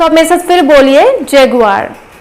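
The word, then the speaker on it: Jaguar: सो ये जैगुआर होता है, बट एक्चुअली हम जब प्रोनाउंस करते हैं इसे तो हम जैगुआर बोल देते हैं, तो वो भी चलता है, बट इसका सही प्रोनाउंसिएशन है जैगुआर।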